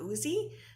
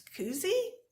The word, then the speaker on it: koozie: some people might say isn't that a cozy but it's spelled k-o-o-z so that's why i'm thinking it's koozie otherwise it would be